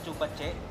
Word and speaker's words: Zhu Ba Jie: Ah ang tamang pronunciation po is chubache.